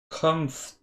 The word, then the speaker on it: comfortable: I don't say R in it. Comfortable.